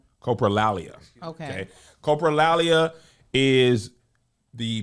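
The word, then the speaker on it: coprolalia: This is pronounced Copraalia. Copraalia.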